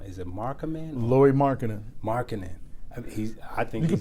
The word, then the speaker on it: Markkanen: And forgive me if I pronounce his name wrong. Is it Markkanen? Laurie Markkanen.